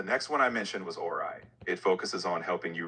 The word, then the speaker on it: Orai: Discover OI. A AI consulting with clarity. I don't think that's what you're saying, Bruce. O R AI.